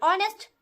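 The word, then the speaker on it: honest: नी का के letter silent है और जज का डी लेटर साइलेंट है, और ऑनेस्ट का एच साइलेंट।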